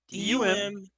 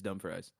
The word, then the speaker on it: Dumfries: DUMFRIES.